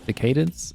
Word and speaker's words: Decadence: as I had actually just bought the Danganronpa Decadence, or yeah, Decadence is how you say it.